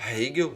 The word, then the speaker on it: Hegel: Hegel, né? Pronunciando melhor.